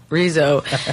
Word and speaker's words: Rizo: the name is from I married a beautiful Colombian man he pronounced it Rizzo and it always felt like a trip people up and I was like it's Rizzo and then when the